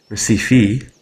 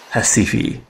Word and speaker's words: Recife: The English pronunciation is apparently Recife, and the Portuguese, the native Portuguese, is Recife.